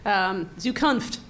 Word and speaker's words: Zukunft: Zukunft is the correct pronunciation, as far as I know.